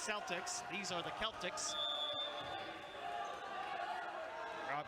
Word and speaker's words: Celtics: Spelled just like the NBA team in Boston, but not pronounced the same. That's Celtics.